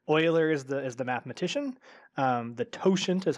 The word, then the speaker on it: totient: hard to pronounce Euler is the mathematician the totient is how you pronounce that word and then the the Greek